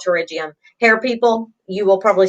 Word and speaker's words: pterygium: the ravine fellas yeah the P is silent I gotta write it